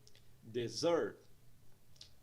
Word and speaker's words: dessert: Temos dois sons de vogal, então nós temos duas sílabas nessa palavra. Nós vemos aí um apóstrofe logo após a segunda sílaba, indicando que ela é mais longa e pronunciada em um tom mais alto.